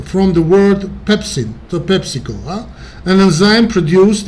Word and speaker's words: pepsin: However, when the protective mechanisms of the stomach or duodenal mucosa are compromised, pepsin, sometimes pronounced pepsine, or pepsin is the most correct, of course, and stomach acid can damage the tissue of these organs, leading to ulcer formation.